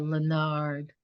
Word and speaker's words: Lenard: And I just want to make sure that beautiful French pronunciation of Lenard gets out there. Isaiah Lenard.